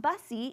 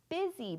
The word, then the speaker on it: busy: That's not bussy, it's busy. But look, it's got a U.